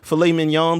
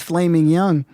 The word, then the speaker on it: filet mignon: I thought it was Flaming Young.